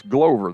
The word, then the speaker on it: Glover: It's spelled like Glover, but it's Glover, they say.